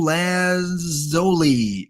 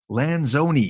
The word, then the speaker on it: Lanzoni: Oh, Sabio Lanzoli. No, Fabio Lanzoni. Is that right?